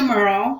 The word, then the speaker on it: Murrell: So I'm Murrell. We always say Murrell like Pearl is the easiest way to remember the pronunciation of the last name.